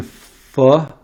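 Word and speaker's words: phở: apples I had a vegan full that's how to pronounce it vegan pho being full last night for dinner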